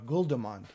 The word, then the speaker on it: Guldemond: pronounce your last name guldamond yeah that's the english pronunciation and you pronounce it in the netherlands okay okay yeah i'm